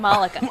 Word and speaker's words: Malaka: Malaka? Malaka? I mean, I would say Malika, but I'd be wrong. It's Monica with an L. What? What? Malaka? Malika. Malaka. So it's Malika.